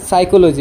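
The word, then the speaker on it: psychology: N letter to থাকে হলে P letter to silent জানে ফর এক্সাম্পল সাইকোলজি একটু বহুতে পরে বহুত স্টুডেন্ট আছে ভালো ভালো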